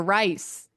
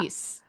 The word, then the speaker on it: Rhys: So, we've been saying Rise and in Anna Bee's Anibi Bib's email, she said also you guys are pronouncing Reese's name wrong. You keep saying Rise or Rice, but it's Reese.